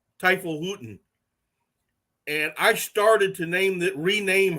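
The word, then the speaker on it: Teufelshunde: and in German it's pronounced Teufelshutten.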